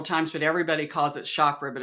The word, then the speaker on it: chakra: You know, we pronounce it chakra. It's really chakra. Did you know that? Chakra. Like a chalkboard.